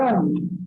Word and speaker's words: Om: Now, Om शब्द में 3 syllables हैं. आप सब जानते हैं ना? अ, उ, म.